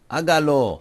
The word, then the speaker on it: hágalo: Hágalo. Since it's the third syllable from the end that we want to accent, we have to put the accent over it.